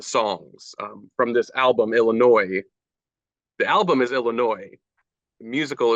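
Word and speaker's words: Illinoise: me that this Illinois is that how you pronounce it Illinois yes Illinois um it's spelled different I this seems like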